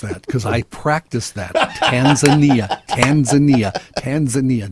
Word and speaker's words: Tanzania: John, I'd like to congratulate you for the pronunciation of Tanzania. I'm glad you noticed that cuz I practiced that. Tanzania.